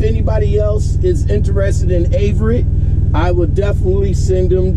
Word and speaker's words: Averitt: Now, how do you pronounce the company name? Averitt.